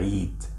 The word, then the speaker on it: عيد: adding l and again important reminder don't forget to pronounce it correctly with the hain letter i eat i eat because remember eid was hand especially in the masonry dialect so when i say